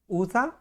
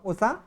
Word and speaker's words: उषा: ये ऊषा, ये उषा, ये ऊषा गलत है, यहाँ पे उषा शुद्ध उच्चारण शब्द होगा हमारा।